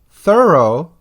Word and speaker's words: thorough: The sound is O. It is found in the words though, although, thorough, which means complete, borough, as in a division of a city like Scarborough, and furlough, which so many of us